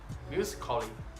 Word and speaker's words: musically: The letter A can be silent, especially in words that end in A-L-L-Y. For example, romantically, romantically, musically, musically, logically, logically. So, cut the A out, get it off it.